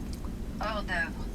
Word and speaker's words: Hors d'œuvre: Hors d'œuvre. Hors d'œuvre. Hors d'œuvre. Hors d'œuvre.